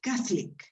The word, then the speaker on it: catholic: case we in english you put the stress on the first syllable the first one on